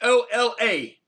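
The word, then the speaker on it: Hola: information um but my my name is an English pronunciation with a Spanish spelling so think of this yeah h o l a which in Span Spanish is Ola which means what hello hello right uh Dia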